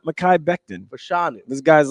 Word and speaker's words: Fashanu: For show. No, Fashanu.